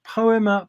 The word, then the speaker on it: Poema: Yeah, it's called Poema Podcast. It's spelt poem with an A on the end, so it's poem with an A on the end.